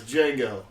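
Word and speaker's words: Django: wonder oral oh okay Jango and chain he's the one that like that sits at the bar and he goes what's your name he goes Jango it's uh the D is silent he goes I know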